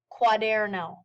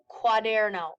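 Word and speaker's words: cuaderno: one of those l quaderno l quaderno again the CUA combination sounds like a qu the way that I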